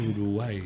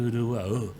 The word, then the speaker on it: Uruguay: Y no se dice Uruguay, se dice Uruguay. Uruguay, exactamente. Esa pequeña acentuación cambia el significado.